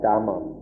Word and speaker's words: Dhamma: Pali is the language of the earliest Buddhist scriptures, in which it's pronounced Dhamma. These are both spelled with a DH at the beginning, but in Thailand that's pronounced Dhamma.